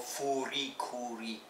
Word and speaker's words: FLCL: Oh my god, I just found this like through Reddit, this trailer here, and FLCL, or in Japanese it's called Furi Kuri.